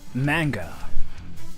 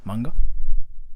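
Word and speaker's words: 漫画: it in japanese like how japanese people say is like manga you don't even like extend the sound like manga manga like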